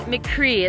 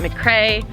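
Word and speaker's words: Fort McRee: before this is fort mccree it's from mccree a lot of people pronounce it mccray uh and it was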